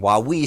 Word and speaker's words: Huawei: But the Huawei situation, Huawei situation is the right way to say it,